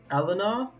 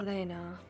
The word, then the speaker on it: Elena: Eleanor? Is that how you pronounce it? No. Elena.